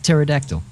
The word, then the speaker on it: pterodactyl: just like uh yeah it's like pterodactyl you don't say the P right well Zar Dragon